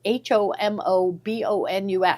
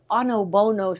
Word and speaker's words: Homobonus: Yeah, it's called, it's spelled HOMOBONUS. So you think it's homobonus, but it's onobono, something like that is how it's pronounced.